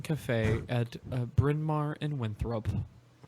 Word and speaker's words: Winthrop: motorcycle at that little Mexican cafe at Bryn Mawr and Winthrop? Did you say Winthrop? Winthrop, it's pronounced. So let's do another question.